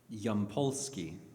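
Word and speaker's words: Yampolskiy: And so you know one one of the guys we interviewed Roman how do you pronounce his last name? Yampolski in an AI safety expert at the University of Louisville is it?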